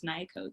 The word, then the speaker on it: Nyakoach: And my name is Nyakoach.